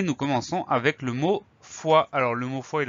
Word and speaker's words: fois: Donc on a une jolie lettre muette à la fin, le S qu'on n'entend pas.